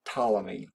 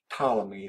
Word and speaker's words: Ptolemy: a greek philosopher named ptolemy ptolemy that p is silent and ptolemy said that